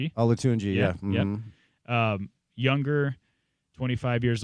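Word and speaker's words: Olatunji: But this but this but this new guy apparently who I think you pronounced his name last week correctly. Victor Alatunji. Alatuni.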